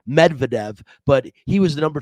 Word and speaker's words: Medvedev: daniel um a medic ahmedvikav let me see let me get that that straight say his name properly it's medvedev but he was the